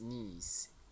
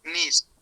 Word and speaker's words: niece: Oh, be careful with the pronunciation of this one. This is niece. Niece Sophie. Nice.